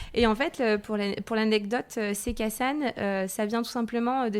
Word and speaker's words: Se Casan: Alors déjà, Sekassan, déjà tu le prononces très bien parce que des fois j'entends Sekazan ou on ne sait pas toujours le prononcer.